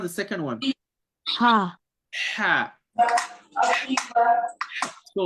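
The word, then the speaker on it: ح: Ha. Ha. So like instead of you blocking the passage of the air from the throat, you're letting it go, right?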